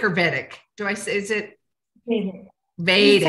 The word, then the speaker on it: Vedic: Vedic.